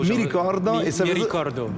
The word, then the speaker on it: Mi Ricordo: Prononce-le comme il faut. Mi Ricordo.